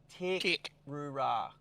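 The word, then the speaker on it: Teerk Roo Ra: But it's Terek-Rura National Park. T-E-E-R-K-R-O-O-R-A National Park. And that's that island directly in front of us. Terek-Rura National Park. Okay. I would actually probably pronounce that Tick. T-E-E. What? How would you pronounce it? You'd pronounce it what? Tick. Terek-Rura. Tick. That's it. Tick-Rura.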